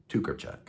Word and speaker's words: Tokarczuk: Well, we're going to talk about those things today as we review Flights by Olga Tukerchuk. And yeah, that is the way you pronounce her name.